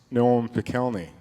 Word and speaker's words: Noam Pikelny: She said, "Is your name pronounced Noam Pikelny?" And I said, "Yeah, that's perfect. That'll be just great."